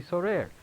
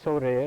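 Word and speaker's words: סורר: There is one other word that occurs in Tanakh, pronounced the same way, sorer, like this, but instead of sin reish reish, it's samech reish reish.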